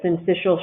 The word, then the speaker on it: syncytial: syncytial virus and so no one in the whole world thinks that since fishel should be spelled that way including me that's how you say it all right so let's